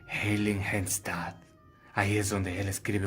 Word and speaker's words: Heiligenstadt: A ese pueblo, que es un nombre difícil, se pronuncia Heiligenstadt.